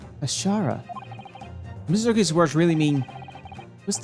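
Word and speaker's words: 頭: It's pronounced Kashara, I believe. Kashara.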